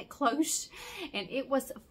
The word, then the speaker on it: cloche: That's how you say it, cloche.